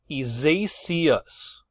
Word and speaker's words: Isaias: Isaias, I believe. That is the correct pronunciation.